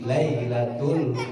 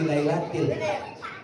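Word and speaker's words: لَيْلَةِ: Inna anzalnahu fi lailatul qadar. Harusnya fi lailatil, karena ada harf jar majrur. Harusnya inna anzalnahu fi lailatil, dia bacanya fi lailatul.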